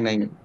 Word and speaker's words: নো: দেখো নয়ে, যেটা বলছি শোনো, নয়ে ওকারে নো আর নয়ে ওকারে নৌ এক জিনিস না, উচ্চারণ এক না।